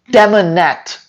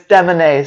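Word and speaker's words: Demanet: Phonetically, it would be Demonet, but it's Demonet.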